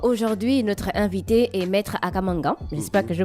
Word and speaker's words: Akam Angang: Notre invité est Maître Akamangan. J'espère que je prononce bien.